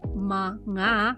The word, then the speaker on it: mga: Mga, which is pronounced as ma-nga, has two functions.